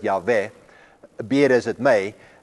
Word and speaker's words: Yahweh: There is only one God, and that's where the word Jehovah comes from, which is what I told you before, is actually a wrong pronunciation of the word Yahweh.